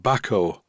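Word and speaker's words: Bahco: any way with the company called Bako which according to a viewer from Sweden this is how it's pronounced as I was looking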